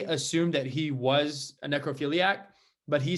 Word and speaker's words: necrophilia: Necrophiliism. Is that how you say it? Necrophilia.